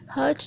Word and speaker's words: heart: यहाँ पे one thing याद रखें, वर्ड हार्ट होता है, हर्ट नहीं होता. हर्ट मीन होता है ज़ख्मी हो करना या तकलीफ़ देना. So this pronunciation is हार्ट.